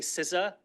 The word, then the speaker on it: CISA: if you can tell every time I say sisa there's a little part of me that wants to say ca and I know half